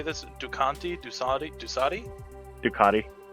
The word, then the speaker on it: Ducati: Dusati? Ducati. Ducati, quote, "The Fuda is a high-performance e-road, ready to go long E-road?